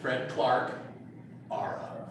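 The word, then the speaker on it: Fredclarkeara: The silent E is what throws everybody, so it's Fred Clarke Ara.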